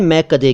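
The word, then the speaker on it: मैकदा: सबसे पहले मैं कदे की बात। मैं कदे किसे कहते हैं? असल में मैं कदा शब्द है, ठीक है। मैं कदा, मैं कदा फारसी भाषा से आया हिंदी और उर्दू में।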